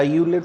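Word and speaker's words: Euler: इसमें फर्स्ट है अलर थ्योरम या यूलर थ्योरम भी कई प्रोनाउंसिएट करते हैं फॉर होमोजीनियस फंक्शन।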